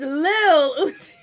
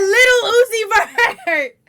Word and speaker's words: Lil Uzi Vert: It's Lil Uzi. She said Little Uzi Vert.